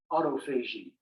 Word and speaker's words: autophagy: What is autophagy? Sometimes pronounced autophagy.